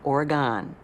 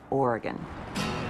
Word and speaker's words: Oregon: Oregon, by the way, I have to say, is not pronounced Oregon. It didn't go anywhere. There is not an E on the end of it. It's Oregon.